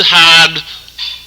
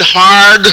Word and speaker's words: hard: done this is to take a a good hard this is a New England hard spelled with an I pronounced without one this is a good hard look at the truth and the statistics and